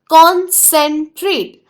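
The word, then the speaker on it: concentrate: टी R eighty ई जब कभी single syllable शब्द ई से समाप्त हो तब उसके तुरंत पहले आए हुए ववलू करर उसके पहले आए हुए ववलू जाऊंगी और ए का नाम लूंगी टी आर हुआ ट्र उसको ए जोड़ा तो हुआ ट्रे उसको टी जोड़ा तो हुआ ट इट बिकम स्ट्रेट कंसंट्रेट बोलते समय हमें एक साथ ही बोलना है अखंड पढ़ना है कंसंट्रेट कंसंट्रेट कंसंट्रेट let's take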